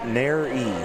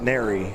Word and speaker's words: Nairy: The pronunciation for Kurt's name is Nairy. So I apologize. I mispronounced Nairy.